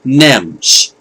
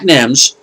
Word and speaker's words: NEMS: record department of his family's music store called NEMS, and they spell it with all caps, N-E-M-S.